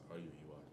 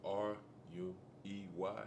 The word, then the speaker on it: Ruey: And then my last name, Ruey, it's spelled r u e y. Your last name is spelled r u e y?